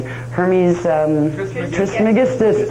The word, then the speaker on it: Hermes Trismegistus: He was, I can never pronounce that name, Hermes Trismegistus, that's it, that's the one, Hermes Trismegistus.